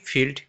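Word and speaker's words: filled: খালির বিপরীত শব্দ ভর্তি তো ভর্তির ইংরেজি কি ফিল্ড তাহলে অপশন সি আর অপশন ডি দুটো স্পেলিং একই রকম দেওয়া হয়েছে এখান থেকে আমাদেরকে সঠিকটা বলতে হবে ফিল্ড কোনটা?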